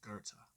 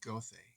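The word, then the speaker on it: Goethe: who told me that the proper pronunciation for his name is Gerta but being a reader I have a propensity for mispronouncing many things so he will always be goth to me the remainder of this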